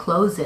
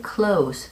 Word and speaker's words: close: 뒤에 있는 제가 그것을 닫을게요 라는 I will close it 할 때는 이 close는 z 발음을 해서 동사로 쓰이고 있습니다.